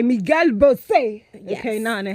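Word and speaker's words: Miguel Bosé: It's pronounced. There's no accent. Anyways, it's pronounced by Miguel Bos.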